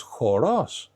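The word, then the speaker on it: χώρος: Choros is the dance.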